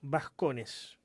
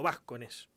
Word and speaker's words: Vascones: Y en ese marco pude establecer contacto con Vascones, o Vascones, como me dijo que se pronuncia en realidad.